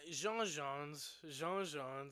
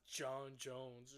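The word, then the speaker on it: J'onn J'onzz: Jean Jones, that's the proper way to say it. Jean Jones. Martian Manhunter. Jean Jones. Not John Jones.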